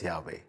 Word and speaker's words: Yahweh: but they knew that it was to be pronounced as yahweh simply out of respect interestingly in the 17th